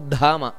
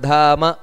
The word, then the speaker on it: ಧಾಮ: ಉಚ್ಚಾರಣೆಯನ್ನು ಮಾಡಬೇಕಾದರೆ ಗುರುರ್ ಗುರುತಮೋ ಧಾಮ ದ ಅನ್ನೋದು ಮಹಾಪ್ರಾಣ ಇದೆ ಹಾಗಂತ ಧಾಮ ಅಂತ ದೀರ್ಘ ಬರಬಾರದು ಅಲ್ಲಿ ಗುರುರ್ ಗುರುತಮೋ ಧಾಮ ಅಷ್ಟೇ ಬರಬೇಕು ಅಲ್ಲಿ ದೀರ್ಘ ಬರಬಾರದು ನಂತರ ಸತ್ಯ ಸತ್ಯ ಪರಾಕ್ರಮಃ